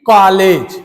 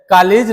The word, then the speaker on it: कॉलेज: लोग पढ़े हैं कि कॉलेज उच्चारण करते हैं कॉलेज जो कि सरासर गलत है कलेज नहीं होता है वह शब्द होता है कॉलेज ऐसे एक शब्द होता